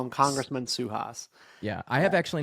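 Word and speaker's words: Suhas: Um, Suas. I'm call him Congressman Suas.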